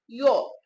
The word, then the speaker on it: য: এই জটার উচ্চারণ হচ্ছে জ, কিন্তু এই জটার উচ্চারণ জ নয়, এই জটার উচ্চারণ হচ্ছে ইয়।